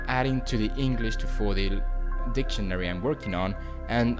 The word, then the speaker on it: Fòdil: It seems like almost all the time the last syllable of a word is stressed, so it's pronounced Fòdil and not Fòdil.